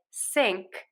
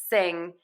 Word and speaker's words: sing: those letters and then sometimes I actually even hear people say sink instead of sing again the mistake here is you're trying to add an extra sound it's not coming out as a g it's coming out as a k um and so that